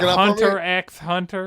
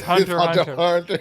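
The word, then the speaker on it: Hunter × Hunter: You can't pronounce the X. That's the rule. I can't let you go out like that. It's not Hunter X Hunter. It's Hunter Hunter.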